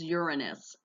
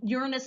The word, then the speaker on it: Uranus: not pronounced that way anymore the official astronomical pronunciation is Uranus we're also going to talk about some Kuiper belt objects as well as the dwarf planets okay so let's talk about Uranus and Neptune together they are very much alike